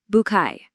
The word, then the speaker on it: Bucket: It follows the daily life of Hyacinth Bucket, though as she'll happily remind you, it's absolutely pronounced the French way, Bouquet.